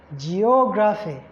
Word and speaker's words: geography: Geography. Geography. Geography. So it's on the 3rd syllable. The O is the one that receives the primary stress.